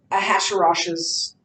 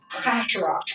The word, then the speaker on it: Ahasuerus: In Hebrew, so this is why the Jewish people don't call him Xerxes, they call him Ahasuerus, which when pronounced in Hebrew sounds something like king headache, which is funny.